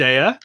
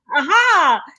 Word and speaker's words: Aja: and co-created with David Ayer. It is Ayer, isn't it? You have to say it like aha.